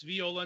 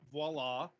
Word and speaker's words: Viola: game called viola and it's viola not voila because we are talking about the actual musical instrument um pronunciations are weird